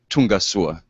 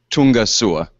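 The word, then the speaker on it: Tonga soa: And so now let me officially welcome you and also say in Malagasy, Tungasua. This is how you say welcome in Malagasy. Tungasua.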